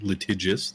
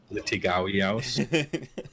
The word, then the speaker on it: litigious: Litigious, there you go. Yeah. Litigious. Yeah. Litigawios. We're mispronouncing words.